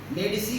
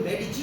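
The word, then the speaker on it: Medici: मेडिसी को मेडिची कहते थे. जब आपने गुच्ची का पर्स देखा है, वो GUCCI होता है, लेकिन प्रोनाउंसिएशन गुच्ची.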